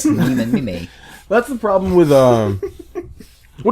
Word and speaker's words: meme: Richard Dawkins said that he wanted to come up with a word that has the same sound as gene. Really? So gene becomes meme.